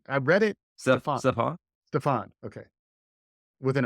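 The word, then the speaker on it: Stefon: maybe because his, Stephon Diggs, how do you pronounce his name? I read it. Stephon. Stephon?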